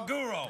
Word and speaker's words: maguro: accent, or is there really a mago No, maguro. roll? Yeah, it's maguro. Maguro. I know. Spell it. No, it's What's a it's maggot? Tuna fish. Mago. Tuna fish. Tuna. You know, Magoro.